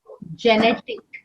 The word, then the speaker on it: genetic: Yeah, G before E and I is pronounced as a J, genetic, genetic. So although it's with G, it sounds like J.